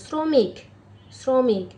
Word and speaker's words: শ্রমিক: তালবর্ষ বর্ণের দন্তস্য উচ্চারণ শ্রমিক শ্রমিক শ্রীগাল শ্রীগাল মূর্ধন্য মূর্ধন্য স বর্ণের তালবর্ষ উচ্চারণ